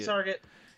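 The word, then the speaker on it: Etrget: E Target. E Target, which is E and the word target minus the A.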